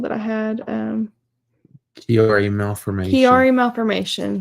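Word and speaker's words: Chiari: what it was called that I had um Kari malformation Ki malformation spell it it's spelled CH i a r i um it can be called Arnold kiari sometimes yeah there's there's a lot of people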